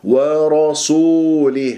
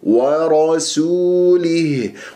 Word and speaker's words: ورسوله: الله ورسوله لاحظتم ورسوله البعض يفخم السنين لمجاورتها للراء المفخم مفتوح ويقول ورسوله خطا ساسيس ساسيس ساسيس ورسو ورسوله والواو ساكنه قبلها سين